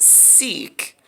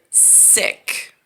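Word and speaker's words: Sikh: they refer i uh i thought it was pronounced seek but they pronounce it sick which like like a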